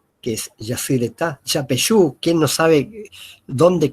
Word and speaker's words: Yacyretá: Nosotros decimos Iguazú, pero la pronunciación es Iguazú. O Yacyretá, que es Yacyretá.